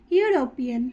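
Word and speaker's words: European: দা Ganga river next ইউরোপিয়ান এটার ক্ষেত্রে আমরা উচ্চারণ করে কি পাচ্ছি না ওয়াই ও ইউ অর্থাৎ কনসোনেন্ট এর মত সাউন্ড তো এর ক্ষেত্রে আমরা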